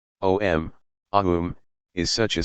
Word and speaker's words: Aum: Om, Aum, is such a sound, the basis of all sounds.